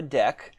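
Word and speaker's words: deque: double ended queue the deck how it is pronounced and i'm basically going to adapt a deck to behave like a stack you know using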